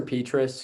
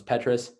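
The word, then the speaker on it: Petras: too for iowa spencer petrus who that's how you pronounce his name i learned i thought it was petrus had the okayest game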